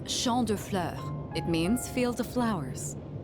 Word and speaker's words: Champs de Fleurs: How do you say that? It's Champ de Fleurs.